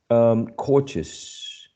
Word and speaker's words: cautious: And the explanation says that if it contains any of these suffixes, stress usually falls on the preceding syllable of the suffix. On the preceding syllable of the suffix. Cautious, phonetics, ambition, right?